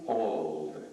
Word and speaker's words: Auld: Hugh Auld. That name is spelled A-U-L-D, and that name is very important, and that family is very important because it was Mrs.